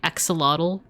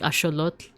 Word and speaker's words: axolotl: I wasn't sure if I was saying it right, but but I was saying like, you know, instead of saying axolotl, they would have said like axolotl.